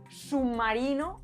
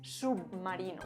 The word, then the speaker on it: submarino: Otra característica es la asimilación de la B implosiva. Esto significa que cuando una B está a final de sílaba, se influencia muchísimo de la consonante que tiene después y se cambia por ella. Es como si no tuviera personalidad y cambiara todo su aspecto por la consonante que tiene después. Por ejemplo, decir submarino en lugar de decir submarino.